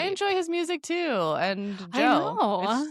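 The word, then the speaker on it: DJO: It's just pronounced Joe. Joe. Just Joe.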